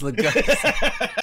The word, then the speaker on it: Lugosi: How do you pronounce that last name? Lugosi? I think it's Lugosi. It is Lugosi.